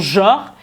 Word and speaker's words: genre: Donc, on a genre, qu'on prononce genre.